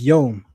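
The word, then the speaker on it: יום: The Hebrew word for day is yom. The Yiddish word for day is tag.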